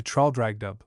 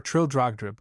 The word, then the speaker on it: Traldragdub: It contained a warrant for conducting me and my retinue to Traldragdub, or Trildrogdrib, for it is pronounced both ways as near as I can remember, by a party of 10 horse.